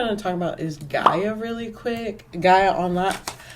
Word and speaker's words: Gaia: to talk about is gaia really quick guy online i think for the longest time i was pronouncing it gia i don't know why there's no e in this there's no e like honestly i think um